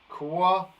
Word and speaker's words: quad: Now, the reason I stopped and I was hesitant is because quad. It's spelled like that. Quad. But it sounds like an O, doesn't it?